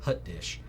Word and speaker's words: hot dish: it's pronounced hut dish, Hot dish.